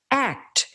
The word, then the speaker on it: ACT: it's known as act which he recommends pronouncing as the word act act is a method